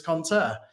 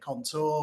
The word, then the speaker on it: conteur: she landed on the French word for storyteller, which is conteur. And I guess it's a conversation starter in a way, because a lot of people can't pronounce it. We get contour, we get conteur, we get all sorts of things. But thankfully, you got it right first time, Jenny.